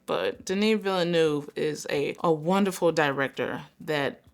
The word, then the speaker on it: Villeneuve: was editing this video, I was informed that that is not how you pronounce that man's name. Look at my mouth. Villeneuve.